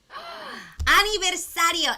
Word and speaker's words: aniversario: many syllables this one you don't really um roll the r it's like a soft r so let's do that a little bit slower ready uno aniversario and then the v